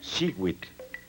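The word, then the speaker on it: xihuitl: Cada cuadrete contiene el color turquesa que se pronuncia shiwit. En este caso, Shewit quiere decir año.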